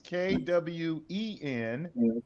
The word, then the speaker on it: quean: Quean, and then it's in parentheses Kwen, and it's also ME.